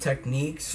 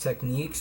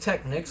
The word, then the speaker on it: Technics: technics technics thing where it's supposed to be pronounced techniques like that's their goal not their goal but their idea the brand's idea that it was supposed to be pronounced techniques but again I pronounced